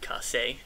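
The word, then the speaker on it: Kaše: Fifth round took David Kasse, is how you pronounce that, in case anyone's wondering.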